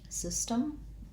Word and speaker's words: system: This one has two S sounds, so no Z, system. And the SYS sounds just like the word sis, short for sister. It has a lax I vowel. First syllable stress, system, that T-E-M spelling represents the T and a very short, kind of syllabic M, no vowel sound there. So if any vowel, I would say a schwa or an I, but